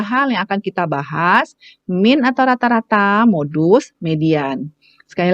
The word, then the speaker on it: mean: ada tiga ya ada mint atau rata-rata bacanya jangan mean ya min min atau rata-rata kemudian ada